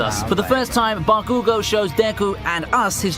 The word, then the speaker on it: Bakugo: gotta say it right you know i said bakugou you know i said he said bakugo you